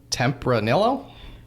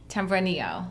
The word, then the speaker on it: Tempranillo: name, and I'm not going to try to pronounce it. So I throw want the you to. Tempranillo. Tempranillo.